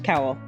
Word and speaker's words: Cowell: Kofa until you hit Cowell or it could be Cole. How do you pronounce it? Terra Cowell. Terara says cowl.